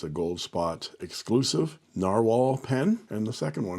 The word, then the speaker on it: Nahvalur: tempted to call this novalour this is Icelandic spelling of narwhal and it's pronounced narwhal and it is a